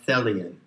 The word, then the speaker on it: Thelian: And if you recognize and dwell in that which is intended, then you are a Thelian. Rhymes with Hellion, which means basically that